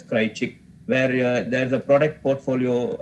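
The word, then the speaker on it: Kraljic: chick model it's called pronounced as cry chick where there's a product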